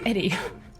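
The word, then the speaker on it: ED-E: Oh, it's pronounced Eddie.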